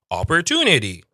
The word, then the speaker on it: opportunity: Opportunity. Opportunity. Opportunity is British. Opportunity. It's the whole D sound again. Opportunity, but it's a very like low D. It's not like a strong D.